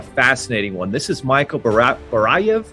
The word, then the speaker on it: Barayev: This is Michael Barayev.